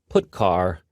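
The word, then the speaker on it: putchar: these three are the most popular they are pronounced print F put car and puts each function is designed to send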